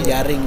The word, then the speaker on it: Jering: Dan penulisan Yaring di Patani itu jering memang. Bacanya Yaring, dan di tempat yang mulia Jirieng ya, kurang lebih.